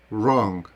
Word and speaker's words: wrong: ці слова Не прочитати Отже коли літера w стоїть перед літерою а вона не вимовляється про те що вимовити ми складаємо рот так як би ми вимовляли www і тоді ми читаємо правильно write Wrong реп запам'ятайте це обов'язково